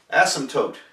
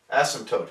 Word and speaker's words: asymptote: t o t e asymptote asymptote is how that's pronounced so I think we uh we don't pronounce the P just asymptote an asymptote